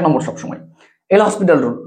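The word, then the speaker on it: L'Hôpital: বানানটা এরকম এরকম যেরকমই হোক না কেন, সেটা নিয়ে আমাদের কিছু যায় আসে না, এরকম অ্যাকচুয়ালি বানান, বাট আমরা এল হসপিটাল বলে থাকি, হসপিটাল বলে যা ইচ্ছা বলো, বা লপিটাল বলো অনেকে।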